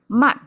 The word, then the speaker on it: 幔: Okay, the last one, it come back to man, the pronunciation we started, fallen tone, and it means canopy, which is the covering on over our head instead of on the side.